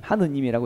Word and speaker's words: 하느님: 하늘님이라고 하는 말입니다 하늘님 근데 우리가 발음할 때 하늘님 하늘님 하늘님 이러면 발음이 좀 힘들잖아요 그래서 쉽게 말하려고 다음에 오시면 리을 탈락시켜 가지고 하늘님 하느님이라고 이렇게 말을 하는 것이죠 이거는 굉장히 범신론적인